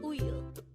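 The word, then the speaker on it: 우유: The Korean term for milk is uyu. Again, it's uyu. This is pronounced as a two-syllable word. The first syllable is u, and the second syllable is yu.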